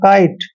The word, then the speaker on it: kite: Next word देखिए KITE, के को हमेशा कै पढ़ते हैं और ITE का उच्चारण क्या कर रहे हैं, आइट, मतलब काइट।